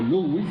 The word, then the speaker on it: Lewis: Lewis, o Lewis, como se pronuncia, increíblemente prolífico.